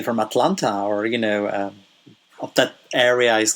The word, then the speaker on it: Atlanta: A lot of us, we pronounce it as Atlanta, where we don't say the T's. We don't really pronounce them. We just say Atlanta.